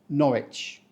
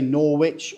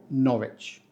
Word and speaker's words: Norwich: this one we say Norwich we don't say Norwich or Norwick the W here is silent as if it's shy and doesn't want to interrupt so we just say Norwich and it was once